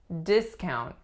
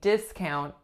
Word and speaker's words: discount: I got a great discount on my new outfit so the winning syllable of course is the first as a noun it makes a sound it the second syllable would be au discount as a verb